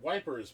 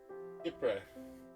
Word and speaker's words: Ypres: Dubbed Wipers by British troops due to its difficult pronunciation, the Belgian town of Ypres was a key strategic position during the war.